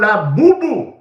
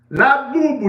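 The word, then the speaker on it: Labubu: And the new toy, write it down, is called La Boo-Boo. La Boo-Boo. You want me to spell it for you?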